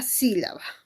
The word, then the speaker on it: sílaba: Tú dices sí, la, va. Muy bien, 3 sílabas, hijito. ¿Y te has dado cuenta que hay una mayor fuerza de voz? Y está muy notorio porque hay una tilde de por medio. ¿Y dónde está la mayor fuerza de voz? Profesora, está en sí. Por lo tanto, el sí sería la sílaba tónica.